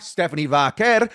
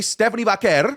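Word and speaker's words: Stephanie Vaquer: No, it's it's I literally speak Spanish. I'm from her part of the world. That's how it's pronounced. Anyway, Stephanie Vaker.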